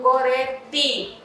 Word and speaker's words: Gorete: Quando eu digo meu nome, por exemplo, meu nome, Gorete, é com E no final. Mas na pronúncia no Nordeste, eles chamam Gorete, com I. Mas eu não posso escrever meu nome Gorete, eu escrevo Gorete, com E, ok?